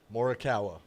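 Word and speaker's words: Morikawa: Morawa.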